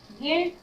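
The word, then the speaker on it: guilt: गिल्ट, गिल्ट यू का sound नहीं हो रहा, गिल्ट, गिल्ट अपराध।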